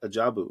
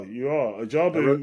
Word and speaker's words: Ajabu: about what goes on at Ajabu, if I'm pronouncing that correctly. Yeah, you are. Ajabu. I wrote it down phonetically so I could get it right.